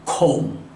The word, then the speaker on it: comb: 이렇게 끝이 MB로 끝나는 단어는 이유 불문하고 B가 묵음입니다. 따라서 새끼양, lamb, thumb, bomb, comb.